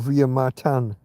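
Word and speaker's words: Villa Martín: apartment in what's called Villa Martin or via martan if you're going to if you're going to pronounce it like the locals would and then they had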